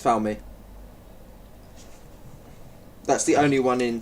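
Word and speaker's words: Falme: slapped the microphone uh I believe it's pronounced found me that's the only one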